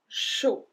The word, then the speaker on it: chaud: Un café chaud. Chaud. So we don't pronounce the D at the end.